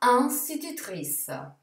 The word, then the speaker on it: institutrice: Mentre la parola maestra, che ha in, viene sostituito con un, quindi sarà institutrice.